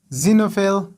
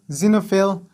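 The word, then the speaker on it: xenophile: خپل آواز ورکوي، او هر کله چې د جملې په سر کې استفاده شي په هغه وخت کې ډیری وخت زاید تلفظ کیږي، لکه زایلوګراف، زایلوګراف، زینوفیل، زینوفیل، زینوفوب، زینوفوب، زینوفوب، اگزام، اگزام، اگزامپل، example.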